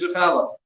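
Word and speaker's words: חלה: After Kiddush Challah. Challah is spelled 3 letters.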